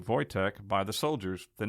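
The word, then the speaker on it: Wojtek: artillery supply company and he was named voytech pronounced vytek voytech by the soldiers the name roughly translates to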